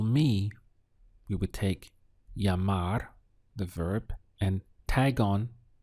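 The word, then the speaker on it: llamar: call in Spanish is yamar this Double L always gets pronounced as a y in Spanish so you can imagine whenever you see this that it's like this with a Y yamar that's the sound Y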